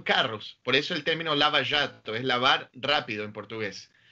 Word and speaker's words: Lava Jato: Por ejemplo, ¿qué era o qué es la operación Lava Jato? ¿Lo dije bien? Claro, lo pronunciaste perfecto.